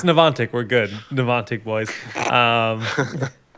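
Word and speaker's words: Niantic: supposed to say it say it again it's nanic we're good ntic boys um sick City well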